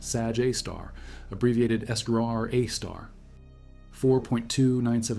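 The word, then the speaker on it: Sagittarius A*: Sagittarius A star pronounced Sag Aar abbreviated Estraar A star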